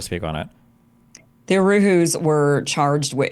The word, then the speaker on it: Uhuru: FBI prosecuting the, am I saying this right, Uruhu movement for having Zoom meetings with a Russian? Because that seems completely undemocratic and anti-speech. Can you pronounce it again, or what was this question? Yeah. Uruhu, U-H-U-R-U.